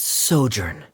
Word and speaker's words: sojourn: everything clear ah directors osimos how do you pronounce this word let me see Ah that's sojourn it means to stay for a while this